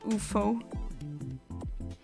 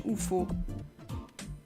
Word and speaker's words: UFO: I'm used to pronouncing it UFO. That's how we say it in Luxembourgish, UFO. Just the letters being pronounced, essentially.